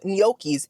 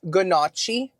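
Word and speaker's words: gnocchi: know how to pronounce noi I mean I do cuz I'm best friends with giata and she taught me it is pronounced noi not gachi not good night noock e noi there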